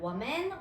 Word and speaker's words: women: 한 명 민 여성들 그죠 발음이 달라요 women women 그다음에 Child a child